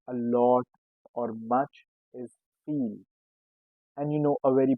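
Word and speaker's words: viel: If you want to say a lot or much is feel.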